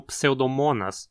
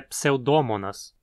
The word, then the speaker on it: Pseudomonas: Muita gente pronuncia o nome do gênero como Pseudomonas, mas esse mo tem um o curto, então a pronúncia adequada é Pseudomonas.